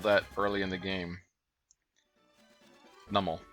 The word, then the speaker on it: Numel: early in the game numel I'm pretty sure that's how you pronounce it numel I used to say new Mel all the time but I think I saw in a in a anime episode that it's normal and see that